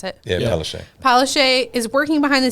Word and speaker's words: Palaszczuk: So the article here says, Palaszczuk, is that how we pronounce it? Yeah, Yeah. Palaszczuk.